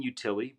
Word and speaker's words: Utile: i'm easy to reach my name is utili but it's spelt u tile uh so i'm at